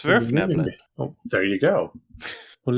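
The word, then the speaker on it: Svirfneblin: It's a Germanic word, so it is pronounced how it is written. There are no silent letters. There are no letters that are pronounced other than what they're supposed to be.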